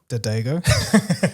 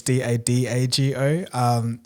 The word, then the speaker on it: Dagogo: And a common one I get is Dagogo, which is Dadago.